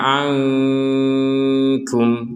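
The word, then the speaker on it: عَنْكُمْ: Di Quran Madinah tidak tertulis ya, kalau nun sukun yang seperti ini bertemu dengan kaf, maka kita membacanya dengan samar. Ya, dengan samar artinya ya tidak murni dengung dan tidak murni jelas. Jadi antara dengung dan jelas.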